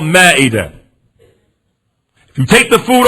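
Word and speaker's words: مائدة: American Muslims call it ma'idah. We call it Ma'idah. We mispronounce it. But it's called Ma'idah. Like Surah Ma'idah.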